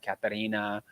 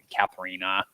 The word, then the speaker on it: Katharina: have questions regarding the Katarina, and I can't ever say her name the other way as Katharina. I can't say it that way anymore because I have learned appropriately how to pronounce it.